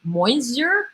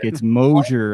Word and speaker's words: Mosier: Jay and John, Mike and Linda tuning in from down the road in Moisier. Is that how you pronounce that? Mosier. I made the same mistake. It's Mosier, apparently.